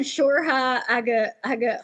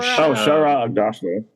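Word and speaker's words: Shohreh Aghdashloo: playing the boys, like, and Shorha Aga. Oh, I always say her name wrong. You know who I'm talking about, Joey? No. From Agatha what? House of Sand and Fog. Oh, Shara Agdashlu.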